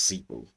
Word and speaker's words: Zeebu: The pronunciation is ZEEBU.